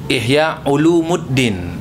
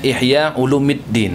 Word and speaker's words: Ihya Ulumiddin: nama kitabnya Ihya ulumiddin ada orang yang bacanya Ihya Ulumuddin ini kurang tepat Oh itu saja ia barisnya agak berbeda ujungnya the harusnya Ihya ulumiddin menit kalau dalam ilmu